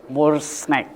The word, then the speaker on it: Morsnack: Bagaimana pelafalannya More Snack? More Snack.